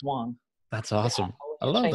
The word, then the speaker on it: Wang: As a Michigander, I went with the hard A. It's Wang. Is that it's right? Wang.